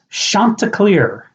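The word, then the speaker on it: Chanticleer: nickname and how do you pronounce it well it's spelled c h a n t i c l e e r and it's Shanta CLE Shanta CLE Shanta CLE not Shanta CLE Shanta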